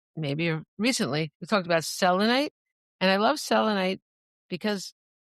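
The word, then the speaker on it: selenite: recently, we talked about Selonite. And I love Selonite because it's actually pronouncing my name right, like selonite because it doesn't have that extra e in it.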